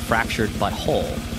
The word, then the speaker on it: The Fractured but Whole: to South Park the fractured but whole it pronounced that correctly by the way it's not it's not actually it's it's intentionally meant to sort of evoke a little saucy language there which actually is a